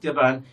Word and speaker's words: Japan: turkey Japan that now look at Japan we have the second Sy here is stressed but the first one is not stressed now why because the second syllable in Japan is longer than the first one Japan Japan Jaan so